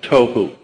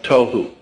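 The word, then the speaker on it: תֹהוּ: o e hyphen wh toou That's not the way it's spelled in Hebrew but that's the way it's pronounced t o e w toou voo would be v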